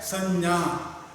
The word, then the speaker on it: संज्ञा: ठीक प्रकार से उच्चारण करना है संज्ञा, संज्ञा नहीं। क्षेत्रज्ञ का प्रयोग करते हैं, वह ज्ञ का प्रयोग इधर नहीं होना चाहिए। संज्ञा, संज्ञा क्या है अथवा इसकी परिभाषा क्या है?